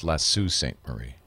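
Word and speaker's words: Sault Ste. Marie: ended up choosing Montreal that's pronounced lassu St Marie really now drop the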